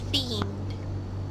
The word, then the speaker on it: themed: And then here again, ED, but this one has a D sound at the end, so themed. Themed.